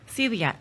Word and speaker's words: celiac: rocks and the creator of bright side of celiac right great and i'm am i saying it right celiac celiac yes i had a feeling that i